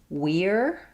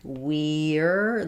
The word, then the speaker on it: we're: So for we're um if I say it like we're the full form we're doing it I'm going to have the e sound but my reduction tends to be it just becomes more like were um so it the